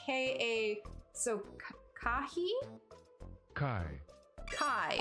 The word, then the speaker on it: chi: consonant sound represented by this letter oh no Kai it's pronounced Kai k a h you're making me